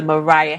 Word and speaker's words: Moriah: and she is the vice chairman of the Mariah Heritage group did I say it correctly yes